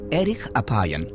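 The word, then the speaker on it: אֶרֶךְ אַפַּיִם: En hebreo, la frase lento para la ira se pronuncia erich apayan, literalmente de larga nariz.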